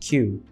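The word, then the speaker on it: 九: calibers and in japanese the number 9 is pronounced q which is similar to another japanese symbol pronounced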